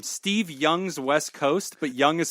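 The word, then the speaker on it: Jung: and this is a good team name Steve Young's West Coast but young is spelled j n g yeah that was that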